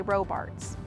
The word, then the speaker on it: Robarts: This is commonly mispronounced, but we do say Robarts.